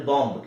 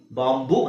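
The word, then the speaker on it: bomb: ಹೇಳ್ತೀವಿ ಬಾಂಬು ಬಾಂಬ್ ಅಂದ್ರೆ ಬಾಂಬ್ ಕೇಳಿದ್ರಲ್ಲ ಬಾಂಬ್ ಇಟ್ರು ಬಾಂಬ್ ಇಟ್ಟು ಬಾಂಬ್ ದಾಳಿ ಬಾಂಬು ಅಂತ ಹೇಳ್ತೀವಿ ಸೋ ಅಲ್ಲಿ ಬೂ ಅವಶ್ಯಕತೆ ಇಲ್ಲ ಜಸ್ಟ್ ಬಾಂಬ್ ಬಾಂಬ್ಎ ಅಲ್ಲೇ ಮುಗಿಬೇಕು ಬಾಂಬ್ ಬಾಂಬ್ ಅಲ್ಲ ಬಾಂಬ್ ಹಾಗೆ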